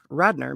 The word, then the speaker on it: Radnor: to a place called Radnor Lake Radnor it's actually called by the locals is one of Radner maybe I mean it's